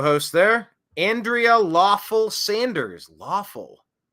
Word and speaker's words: Lawful: Lawful. Rhymes with awful, but lawful? That's an interesting name.